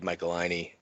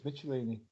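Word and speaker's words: Michelinie: get to meet Dave Michaelini and talk to him about. Well, I think it's Michaelini. I think it's Michelini because when you have CH, you don't go to how do you say school?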